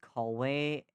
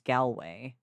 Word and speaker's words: Galway: Like in the song, it sounds better cuz it's not Callway, it's Galway, but I I understand that it's supposed to also be like a call away, you know, like one call away girl.